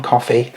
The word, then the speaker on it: Coffey: In 1932, death row gets a new inmate, a giant black man called John Coffey, spelt with a Y, not like the drink, who is brought in accused of raping and murdering 2 young girls.